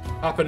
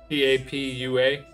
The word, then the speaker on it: Papua: Papua New Guinea. Isn't that how that's pronounced, Papa? P-A-P-U-A, Papua New Guinea.